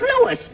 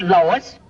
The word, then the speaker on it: Louis: the plant lois lois my name is louis not lois j quiz everybody entitles